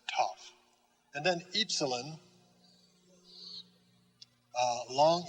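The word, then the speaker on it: tau: just like in english t t top tough pronounced tough and then epsilon uh long e as in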